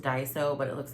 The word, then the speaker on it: Daiso: I want to say it's pronounced Daiso, but it looks like Daiso, D-A-I-S-O.